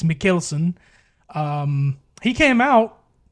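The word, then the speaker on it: Mads Mikkelsen: Uh specifically Casino Royale, one of my favorite Bond films which stars Mads Mickelson. I say I've been saying his name wrong for so long. It's Mckelson.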